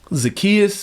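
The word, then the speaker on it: Zaccheaus: Zacchaeus is how you say his name.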